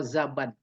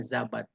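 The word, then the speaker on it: زَبَد: Zubudal bahri bi fathiz zai wal ba. Oh zabad. Berarti bacanya zabad.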